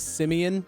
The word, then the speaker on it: Simeon: All right, our next question is from, well, his name is Simeon, but he likes it when I call him Simon because I pronounced his Simon like an idiot the first time.